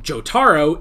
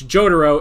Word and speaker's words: Jotaro: it so uh so instead of jotaro it's jotaro and instead of saitama